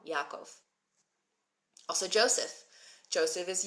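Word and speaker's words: יעקב: Brian is mentioning Jacob so Jacob in Hebrew is actually Yakov it's not the same name it doesn't sound the same but I mean obviously it's the same name but it doesn't sound the same at all Yakov also Joseph Joseph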